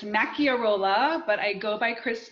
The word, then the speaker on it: Macchiarola: always get asked is how to pronounce my last name so it's Maki or Ola but I go by